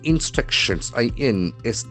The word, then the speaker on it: instruction: There are four syllables, instruction, and the accent falls on the second syllable.